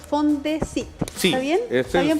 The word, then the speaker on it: FONDECYT: Háblanos de este proyecto que se pronuncia, si no me equivoco, Fondesit.